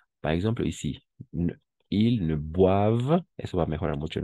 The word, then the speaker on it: boivent: Si vemos así siempre, OI va a ser WA. Par exemple, ici, ils ne boivent, eso va a mejorar mucho, ¿no?